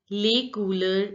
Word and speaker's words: les couleurs: Now recognize the sounds. Les you already know how to pronounce, and OU sound. Because OU are together, it has to be pronounced as oo. Oo. And EUR has to be pronounced like Les couleurs. And L, the last letter generally is not pronounced in French, so S is not to be pronounced. So it is les couleurs, les couleurs.